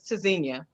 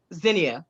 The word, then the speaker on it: Tzynya: so that's the thing the english pronunciation is tazinia but the true pronunciation would be zinnia that would be correct